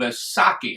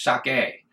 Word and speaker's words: sake: that you know of asaki however the correct pronunciation is sake like you're taunting someone sucky my plan was